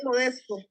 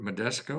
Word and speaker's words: Modesto: I see that nice, is that, I'm in Modesto, where? Modesto, California. Spell that. Modesto? Modesto. M-O. Modesto. Ah, okay. Modesto, California. Like modest with an O at the end.